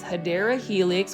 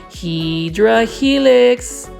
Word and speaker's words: Hedera helix: Or the correct way to say it is Hedera Helix, which is the scientific form to say English ivy.